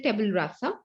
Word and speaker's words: tabula rasa: Okay, so tabula rasa rather, I would say tabula rasa.